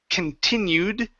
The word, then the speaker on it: continued: So, right here at the beginning we have the word continued. Give me the ed ending there. Continued.